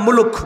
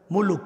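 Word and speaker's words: مُلْك: আর যদি আপনারা ওইভাবে বলেন বাংলা ভাষায় মুলুক বলে না, রাগ করতেছেন? মুলুক, মুলুক। আর সঠিক উচ্চারণ করতে হলে কিভাবে? মুলক।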